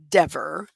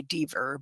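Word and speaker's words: Dever: So, um, the next person on the stand was Officer Kelly De, and there was a whole dust up about how to pronounce her name. Um, it's dee ver, but, uh, she pronounces it de.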